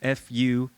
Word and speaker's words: Fuchs: And how would you really pronounce F-U-C-H-S?